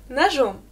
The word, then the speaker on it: нож: Я режу хлеб ножом. En nominatif, c'est нож. Нож, j'ai à la fin. Et fais aussi attention parce que ça se termine par j'ai, mais je prononce comme ch.